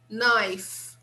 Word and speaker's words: knife: Another word that starts with K, knife, knife, knife, that we use to cut things, okay?